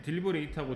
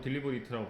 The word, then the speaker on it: deliberate: deliberate, 네, 딜리버레이트하고 딜리버리트라고 발음이 두 개로 나거든요. 네, 그것은 동사하고 형용사하고 달라집니다. 발음이.